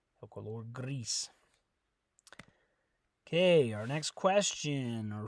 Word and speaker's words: gris: you say gray good remember it's Greece so remember that the I in Spanish always makes an e sound Greece so you're not gonna say Gris it's Greece Greece okay our next question